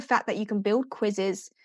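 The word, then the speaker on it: Quizizz: And then in terms of quizzes, we mentioned Kahoot already. Kahoot's great, but there's also Quizzes, which is spelled with 2 Z's on the end. Quiz is like quizzes.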